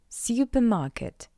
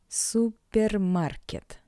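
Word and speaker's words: супермаркет: Therefore, to pronounce this word in Russian, you just need to read the English version with a Russian accent. Supermarket. supermarket supermarket How you can understand, it's all about the sound "r".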